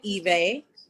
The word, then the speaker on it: Ivy: My name is Ivy, but you pronounce it Eve.